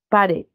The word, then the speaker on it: pared: Entonces, en pared, por ejemplo, la sílaba que tiene mayor fuerza de voz es det, ¿no? Pared, elevo.